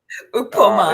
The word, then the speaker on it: Ukpoma: Is that, did I say it right? Ukpoma, yes.